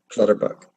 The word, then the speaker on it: Clutterbuck: know that Cal Clutterbuck did play game on Clutterbuck so that is how you say color that